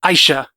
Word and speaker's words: Aisha: Am I saying her name wrong? Aisha. It's Aisha.